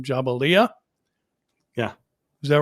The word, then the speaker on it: Jabalia: And forgive me if I pronounce this wrong, Jabalia.